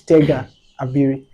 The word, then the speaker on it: Tega Abiri: try can I try Okay so who is TGA Airi am I correct yes you are all right so who is TGA Airi uh um firstly thank you so much David